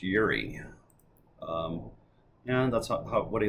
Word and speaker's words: Juraj: is Yuri bov uh even though his name has two JS it's pronounced Yuri um and that's what